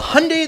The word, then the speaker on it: Hyundai: The Hyundai that rhymes with Sunday Genesis Coupe 2.0T is like the underdog fighter in a movie who comes out of nowhere and surprises everyone.